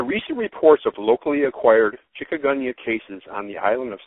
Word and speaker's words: Chikungunya: Chikungunya, and you're saying it correctly, is a virus transmitted by mosquitoes.